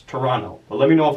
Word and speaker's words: Toronto: I hope I pronounced Toronto right. I think there's no T in there, but as you guys know, my pronunciation is like my strong point. So I believe you call it Toronto.